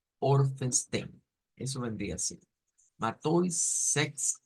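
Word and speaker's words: fünfzehn: Que el número 15 debemos decir Orphenstein. Orphenstein. Entonces, al leerlo completo nos queda algo como Matois Sex Orphenstein.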